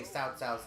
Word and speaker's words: Cao Cao: That's how I know how to say Cao Cao's name.